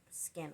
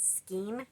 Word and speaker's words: skein: Sometimes you gotta tie another skin on. Now, a lot of people pronounce it skein because that's how it's spelled, but it's not pronounced skein. It's pronounced skin, like skin, but it's spelled S-K-E.